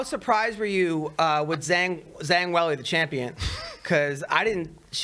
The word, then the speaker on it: Zhang Weili: Now, how surprised were you with Zhang Weili, the champion?